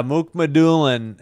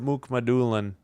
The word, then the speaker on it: Mukhamadullin: Yeah, Mook-Madulin.